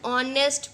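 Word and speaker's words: honest: से आवाज़ निकलती है, क्योंकि एच जो होता है वो साइलेंट होता है, और इसकी वजह से हम क्या यूज़ करते हैं? N. Example is ही इज़ एन ऑनेस्ट politician.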